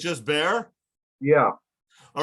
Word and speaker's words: Bexar: there- When you say Bexar, B-E-X-A-R, it's actually there, the X is silent. It's just Bear?